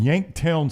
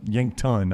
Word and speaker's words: Yankton: And I stayed in Yanktown, South Dakota. I mean, Yankton, I think is how they say it, not Yanktown. Yanktown's a good titty, though. It's Yankton.